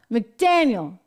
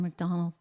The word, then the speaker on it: McDaniel: at the Republican party of official today R McDaniel I said it right I always go for R McDonald for some reason Ron McDaniel is out she